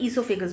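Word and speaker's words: oesophagus: में उसको हम लोग इसोफागस बोलते हैं बोल मैं इसोफागस रही हूं लेकिन उसका स्पेलिंग स्टार्ट होता है ओ से ओ ई एस ओ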